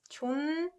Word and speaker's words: 존댓말: So here, this one is pronounced 존댓말. 존댓말. This ut softens to m sound, right?